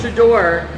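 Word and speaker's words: Shedeur: the quarterback from Colorado, and I can never pronounce Deion Sanders' son's name. Shador? Shador, is that it? Yeah. Okay. Shador.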